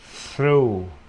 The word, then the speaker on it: through: Through, through, ra, U.